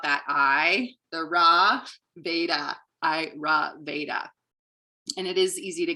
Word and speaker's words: Ayurveda: and how it's pronounced how i remember it is i ra veda so i ra veda you can repeat it